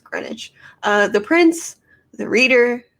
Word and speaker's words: Greenwich: way that you work it is spelled greenwich why is this pronounced greenwich uh the prince the